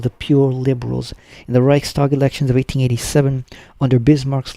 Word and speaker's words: Reichstag: That's how you pronounce it, right? Reichstag? Reichstag, yeah.